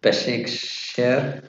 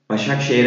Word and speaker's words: Başakşehir: Besiktas, Perfect pronunciation. Yeah. Istanbul, Besikshehir. Başakşehir, a bit Başakşehir.